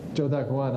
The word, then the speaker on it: Zhou Daguan: Zhou Daguan. I don't know what the pinyin is for it, but that's Zhou Daguan.